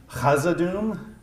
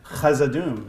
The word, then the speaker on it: Khazad-dûm: Is it pronounced Khazad-dûm or Khazad-dûm? Khazad. Is it Khazad-dûm or Khazad-dûm? It's Khazad. Are we writing or are we? Whatever. Yeah, sure. So basically, either a K or a rough H, essentially.